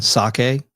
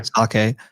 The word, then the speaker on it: psake: You're also a contributor on Sake, which is spelled PSAKE, but yeah, Sake.